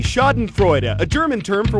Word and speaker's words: schadenfreude: ditch not in Friday the answer is B schadenfreude ax a German term for when someone laughs